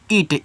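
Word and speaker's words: it: तो इसको पढ़ते हैं इट। ईट मत पढ़िएगा। इट पढ़िएगा।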